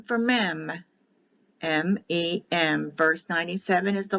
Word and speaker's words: Mem: l m this is the letter m for mem m-e-m verse 97 is the letter m that